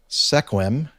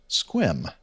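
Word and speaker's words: Sequim: Jeff uh number 613 correction seim I think is what I called it uh is pronounced squim and uh let's see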